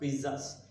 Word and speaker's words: pizzas: We made dal makhani, chola, dosas, and even pizzas. What is the pronounce? It is not pizzas, it's pizzas. Pizzas. Though that T is not visible, but the pronunciation is pizzas.